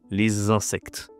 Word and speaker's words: les insectes: Attention ici, il y a la liaison, hein, les insectes.